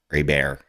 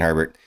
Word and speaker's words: Herbert: hands on Justin Herbert Herbert a bear um if you are a uh New Orleans Louisiana person AAR that's how you pronounce it but it's uh Justin Herbert he's the qb9 on